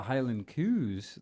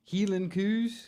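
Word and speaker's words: Hielan coos: Oh, but that did help to remind me of the Highland Coos that we got to see. Who's that? No, that's not how you pronounce it. Oh, excuse me. Healing Coos? That's better.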